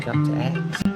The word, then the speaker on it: Dr. X: Oh yeah, Dr. Eggs. His real name's Dr. Eggs though, but it's spell X. It's just... So it's the letter X, but it's pronounced egg.